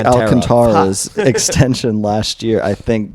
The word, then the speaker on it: Alcantara: teams Sandy Alcantara and it's not alcantra by the way I found I pronouncing alcantra it turns out Sandy is Alcantara wow weird Kevin Kevin